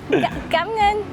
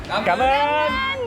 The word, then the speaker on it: cảm ơn: I meant cảm ơn. Cảm ơn.